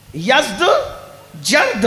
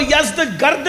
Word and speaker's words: یزدجرد: یزدجرد، اس کو یزدگرد بھی کہتے ہیں ایرانی لب و لہجے میں. عربی میں یزدجرد کہتے ہیں.